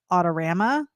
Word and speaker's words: Autorama: probably saying it wrong because when we're up in Michigan they all call it otama and I say otama